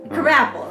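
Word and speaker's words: Krabappel: end of the episode Mrs crapple crab apple crapple right that's how you say it CLE kle the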